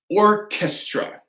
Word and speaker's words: orchestra: Okay, so we have orchestra. Orchestra. So that's going to be a hard K, right?